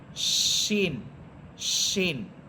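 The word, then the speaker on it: شين: মত হয়ে যাবে এটা এটা সিনের মত হবে না এটা হবে শিন বাংলাতে তালব্যস্য দিয়ে পড়বেন শিন শিন এরপরের হরফ সদ সদ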